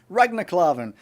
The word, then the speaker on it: Ragnar Klavan: Ragnar Klavan.